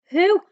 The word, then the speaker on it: who: So it's as if we've got a silent W this time and it's the H, the H sound we can hear. And then also at the end, we've got just one O to make the oo sound.